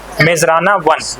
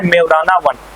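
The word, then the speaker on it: Majorana 1: Chip launch की है जिसका नाम है मेजराना 1, या फिर इसी को बोला जा रहा है मेवराना 1। इंग्लिश में कई बार प्रोनाउंसिएशन जो है वो चेंज हो जाते हैं, मेजराना 1 या फिर मेवराना 1।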